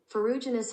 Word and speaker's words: Ferruginous: Okay, this is how you pronounce it. Ferruginous hawk.